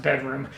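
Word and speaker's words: bdrm: that I've recently discovered by the name of bedroom you'll see their Bandcamp page here on the screen it's spelled up by Liza's BDR mm but is pronounced bedroom they are a five piece quintet from the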